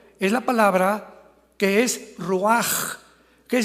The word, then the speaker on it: ruach: La palabra para espíritu en el hebreo es la palabra que es ruach, que se escribe ruach con CH, pero repito, se pronuncia como J, ruach.